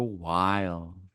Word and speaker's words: Wylde: should look up Wild. Wild is spelled WYLDE.